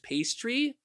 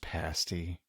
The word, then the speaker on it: pasty: called Cornish pasty and I get annoyed whenever people call it Cornish Pastry or when someone mentions pastied they immediately think of it's It's pronounced pasty oh what whatever well